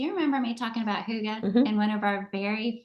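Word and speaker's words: hygge: is spelled h y g g but it's pronounced Huga and I've got this book called the little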